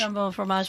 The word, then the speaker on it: jambon fromage: Jambon fromage? Jambon fromage, which is, again, ham and cheese.